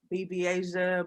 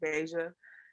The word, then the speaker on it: Bveijah: beija um you know some people may pronounce it bb asia of asia what not but um it is pronounced basia um the v is for my middle name it's the first letter